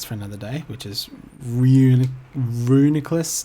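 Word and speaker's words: Reuniclus: I always thought it was ranunculus, like a homunculus, but that's probably wrong. So Well, it's supposed to be disregard. it's supposed to be like nucleus.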